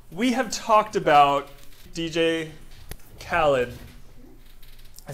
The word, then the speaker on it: Khaled: so with dj khaled I've had to constantly like say his name how he says his name dj khaled in order to like get it so that I'm not saying it like their proper way which is Khalid no no one's ever